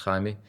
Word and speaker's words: Jaime: It's something that we really need to get the consumer to understand, and I think Jamie, his real name would be pronounced Jaime, but Jamie is doing, and his father are doing incredibly good work.